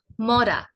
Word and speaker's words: মরা: আপনি যদি র এর উচ্চারণ সামনের দিক থেকে করেন, জিভটাকে মুখের সামনের দিকে রেখে র এর উচ্চারণ করেন, তাহলে অবশ্যই আপনার র এর উচ্চারণ হবে।